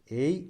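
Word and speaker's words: ऐ: ആണ് മലയാളത്തിലെ ഐ ആണ് പക്ഷേ ഈ അക്ഷരം വായിക്കുന്നത് എയ് എന്നാണ് ഐ എന്നല്ല എയ് എന്നാണ് എയ് നെക്ക് ഐ സ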